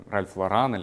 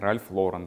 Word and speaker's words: Ralph Lauren: They say Ralph Loran or Ralph Loren. In fact, the correct pronunciation is Ralph Lauren, remember.